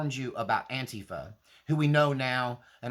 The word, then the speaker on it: Antifa: And u I know y'all call it Antifa, but the way they pronounce it uh for themselves is Antifa or Antifa. And so I do pronounce it the way that the people involved actually pronounce it, right?